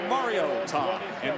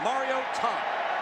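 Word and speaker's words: Mariota: So Marcus Mario to that is how you pronounce the name because mom called from Hawaii Matt and said listen up folks it's Mario Tom. Put a hyphen between that Mario and Tom.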